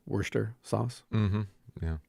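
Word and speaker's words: Worcester: other night my kids are learning how to pronounce Worster sauce mhm yeah right Worster sure um but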